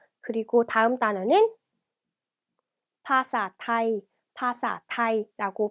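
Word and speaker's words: ภาษาไทย: 그래서 태국어로 언어에 해당하는 태국어인 파사, 그리고 태국은 타이, 그래서 파사타이 이렇게 발음해 주시면 돼요.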